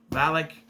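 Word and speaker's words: Valek: oldest living vampire, the oldest vampire in history, Valak. Not the same one, it's spelled differently.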